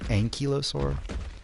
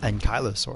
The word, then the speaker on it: ankylosaur: kentrosaur ankylosaur and kylosaur which is more commonly pronounced ankylosaur um it's actually pronounced and kylosaur i found out that's